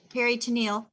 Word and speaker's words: peritoneal: which I know the peritoneal, I can never say it right. They want the Neil. peritoneal.